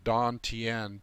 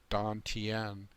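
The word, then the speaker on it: tantien: this is called the Don Tien t-a-n-t-i-e-n Don Tien things that are spelled with a t like Taoist and Don Tian are pronounced d most of the time so anyway that's what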